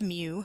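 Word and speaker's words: μ: use the same formula for both so it's pronounced mu and it's this curly q looking letter M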